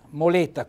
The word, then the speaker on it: moleta: bene allora anche qui moletta quindi moletta vedete un bell'accento tonico sulla e naturalmente una è chiusa ecco plurale rimane moleta